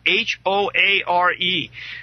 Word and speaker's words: Hoare: celebrity mercenary Mad Mike Hoare, last name spelled H-O-A-R-E.